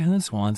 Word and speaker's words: หุ้นส่วน: The word hunsuan sounds like hun rhymes with moon plus suan.